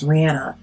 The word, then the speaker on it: Rihanna: Because I just want to, I forgot her name is not pronounced Rihanna. It's Rihanna. But what I really like to use after this product is my sleeping mask.